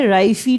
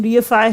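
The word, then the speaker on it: reify: राइफी type लोग बोलते हैं, ऐसा नहीं है, प्रोनाउंसिएशन रियफाई है।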